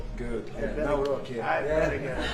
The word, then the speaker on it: Nawrocki: Gave me a little different pronunciation. I said, I want to get it perfect. Did I get it right? Yeah. Good. Good. I better, Nawrocki.